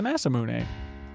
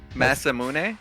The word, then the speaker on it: Masamune: As we know now, it's pronounced the Masamune. Did you? What? That's how you say it in Japanese. Masamune?